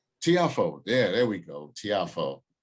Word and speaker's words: Tiafoe: uh that's um guys i'm gonna say francis tiafoe tiafoe yeah there we go tiafoe and we were just talking about how to pronounce that might have pulled probably the biggest